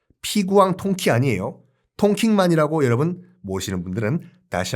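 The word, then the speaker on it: Đông Kinh: 동경과 똑같은 한자 에요 동경의 베트남 발음은 통 킹이 라고 말씀들 기억하시죠 그래서 하노이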